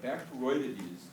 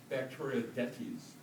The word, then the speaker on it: Bacteroidetes: But Bacteroidetes is the way that it goes. Most people I know want to say, and I don't care how you say it in this case, but if you want to be cool, some people will say Bacteroidetes, okay, taking it more from the emphasis that you might use on a plant or